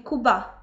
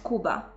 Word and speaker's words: Kuba: Wyobraźmy sobie, że ktoś mówi na mnie Natalia zamiast Natalia, albo ktoś mówi Kuba zamiast Kuba.